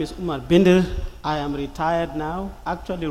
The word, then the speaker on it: Umar Bindir: My name is Omar Binder.